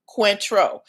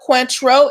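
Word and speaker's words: Cointreau: ask um have you guys ever heard of quintro c-o-i-n-t-r-e-a-u it is a liqueur not a liquor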